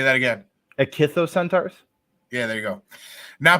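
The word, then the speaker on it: ichthyocentaur: thing that's not called that but I'm not pronouncing that either it kissed those centaurs say that again akithos centaurs yeah there you go now preserved as a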